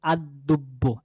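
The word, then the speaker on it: الدب: বালক তাহলে বলতে হবে আদ্দুব্বু আদ্দুব্বু এখানে আল নাই লামটি উচ্চারণে আসবে না হবে আদ্দুব্বু ঠিক আছে তাহলে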